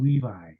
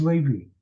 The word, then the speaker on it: Levi: see Seminary graduates respond calling him Levi it is as incorrect a pronunciation as you can ever get his name is Levy Levy and love means